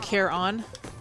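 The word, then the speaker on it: Charon: yeah she's ecstatic okay hades pronounces it care on i can see that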